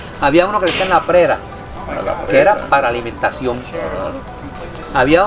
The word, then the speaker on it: PRERA: r e r a prera según se pronuncia fácilmente prera pero había otra que